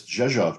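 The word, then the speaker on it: Rzeszów: And she goes, it's Zhezhov, just like it's spelled.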